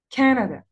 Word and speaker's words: Canada: Canada.